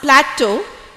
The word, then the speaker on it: plateau: So when you pronounce plateau, you have to keep the U silent. But when you have plural, it is plateaus.